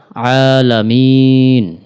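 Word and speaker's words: الْعَالَمِينَ: রব্বিল আইন খাড়া জবর আইনটা গলার মাঝখান থেকে উচ্চারণ করতে হবে খাড়া জবর থাকার কারণে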